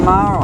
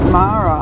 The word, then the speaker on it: Maria: And um that's spelt I think it's spelt like Maria but they pronounce it Mara I think.